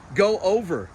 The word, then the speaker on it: Gover: Go over. Yeah, I go like over.